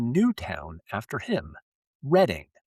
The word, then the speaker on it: Redding: 1880, officially Redding, r e d d i n g, forever. So, the man who built the entire region, Reading, or Redding, with an A, got out litigated by